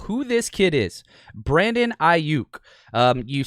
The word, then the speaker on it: Aiyuk: let's talk about who this kid is brandon i yook you say vinay it's i you for all